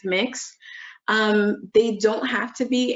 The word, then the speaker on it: Mx: So the MX is pronounced mix.